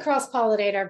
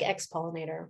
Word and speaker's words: Ex-Pollinator: Pronounce it Cross-Pollinator, but it looks like Ex-Pollinator.